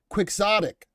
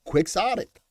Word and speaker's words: quixotic: lot of follow through from the FED it's pronounced Quicks then ah tick oh is that what it is quixotic okay then I got it hi Eton hi Eton I got it now quixotic I just learned something new today Joey didn't